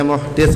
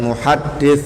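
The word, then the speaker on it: مُحْدِث: Maksudnya bacanya muhdit Pak ya bukan muhaddis ya. Maknanya beda mungkin ya. Kalau muhdit orang yang berhadas kalau muhaddis ahli hadis.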